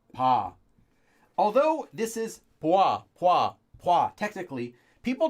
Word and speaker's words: 봐: here so followed by pa which is just actually pronounced like paw although this is technically